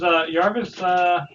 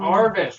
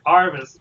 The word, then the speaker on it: Arvis: So, does Yarvis, see the alien? Arvis, why does everyone forget that the Y is silent? Arvis, fine. Arvis.